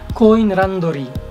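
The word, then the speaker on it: コインランドリー: difficult to find laundromats they are called kun randori go in randori so that's a Japanese pronunciation of coin laundry so they stand for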